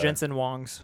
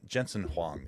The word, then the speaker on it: Jensen Huang: Jason uh uh uh Jensen, how do they pronounce his name? Wongs. Wong. Wong. Wongs. Wongs from the other uh Jensen Wongs. Justin Wongs. Yeah, Jensen Huang is is how it is actually spelled or pronounced.